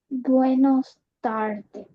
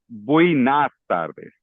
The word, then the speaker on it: buenas tardes: Buenos tardes. No, it's buenas tardes. Oh, Okay? bueno. Yeah. So buenos días, but buenas tardes.